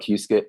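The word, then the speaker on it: Qiskit: I'd recommend there's there's something called it's called Q skit Q skit uh people don't really pronounce it it's called Q skit that's a good computer software helps you simulate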